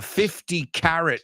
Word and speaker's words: carat: So I have a 50-carat ring. Es de quilates, quilates. Se escribe K-A-R-A-T y suena igual que zanahoria, carrot.